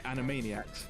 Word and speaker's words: Animaniacs: looks oh any enemy animaniacs is that how you say it yeah animaniacs in a maniac instead of animated animations yeah animaniacs okay um